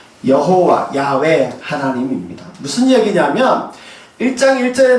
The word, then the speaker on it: 야훼: 이름이 야외 야외이고요 여호와입니다 여호와는 영어식 발음으로 그렇게 하는 히브리식 발음이 같은 말이라 생각하시면 돼요 여호와 야훼 하나님입니다 무슨 얘기냐면 1장